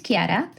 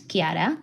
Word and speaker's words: Kiara: And my name is Kiara. That's how it's pronounced in Spanish, Kiara.